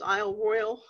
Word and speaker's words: Isle Royale: large island which is Isle Royal is they actually say an i/o royal even though it has an e on the end and it looks like